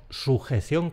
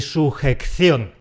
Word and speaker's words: sujeción: De “discreto”, de “sujeto” tenemos “discreción” y tenemos “sujeción” con una sola ce. No quiero oír ni “discreCCión” ni “sujeCCión”.